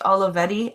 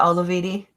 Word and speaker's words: Olivetti: It's pronounced Olivetti. Oh, okay, not Olividi.